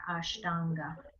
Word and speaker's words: Ashtanga: So Ashtanga is going to have a long A in there, Ashtanga.